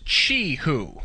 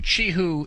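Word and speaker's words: Qihoo: until someone uh corrected me that the correct pronunciation is chihoo, like ch Hi, Hu. Chihu.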